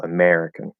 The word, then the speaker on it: American: American is stressed, and it's stressed on the second syllable, American. So the way that you typed it is actually inverted from the stress. It should be lower R, lower U, and then capital ME in American.